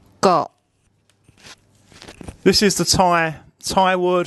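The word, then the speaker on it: เกาะ: And it makes a very short O sound.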